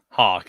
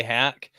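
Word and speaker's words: Hauschka: Hawk, Matt, yeah, Hawk is yeah. I've always said I always get it mixed up and want to say Hack, but it's pronounced Hawk.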